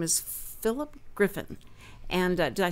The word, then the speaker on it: Philip Griffin: And so I didn't know if you spelled it or you pronounced it maybe differently, like Philip, and how. But no, it's Philip Griffin.